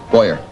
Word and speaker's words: Boyer: Korea Connie pretzels Harry's my name boyer like electronic boy yay only he keeps